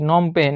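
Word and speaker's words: Phnom Penh: যায় কম্বোডিয়ার রাজধানী কোনটি নম পেন এই যে বানানটা দেখতে হবে নম এন ও এম তার আগে পিএইচ আছে আর পেন পেনের পরে এইচ আছে নম পেন কম্বোডিয়ার রাজধানীর নম পেন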